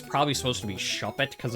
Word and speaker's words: Shuppet: a ride the So that's why I call it shupet. So if you're like, "No, it's shuppet." The inside joke between me and my wife, you know, overrides your your desires for me to pronounce things correctly.